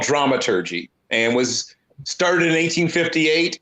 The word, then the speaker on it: dramaturg: But a dramaturg, right? If you want to go with the full German pronunciation, they are responsible for